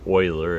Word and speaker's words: Euler: with the letter e this person's name is Euler it doesn't look like that but that's how we pronounce it and this he's a mathematician and